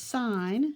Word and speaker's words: sin: deals with and the first one is called sine of an angle and I'm just going to put the son of I'll just put sine of an angle it's probably the easiest way